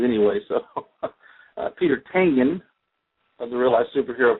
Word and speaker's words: Tangen: popularity, you know, the the most people say Tangen, but it's it's Tangan.